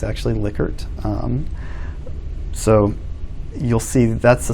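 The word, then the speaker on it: Likert: a liquor scale um you'll you'll hear it pronounced lykert somehow sometimes it's actually lickert so you'll see that's the scale kind of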